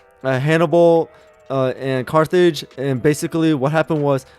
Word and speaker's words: Carthage: Han um Hannibal who was in control of Carthage and I mean Carthage I don't know why I pronounced it like that my bad Carthage and also just like uh building up and